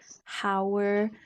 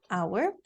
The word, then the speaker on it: hour: We're going to keep the H silent. Okay, so it's hour and honest.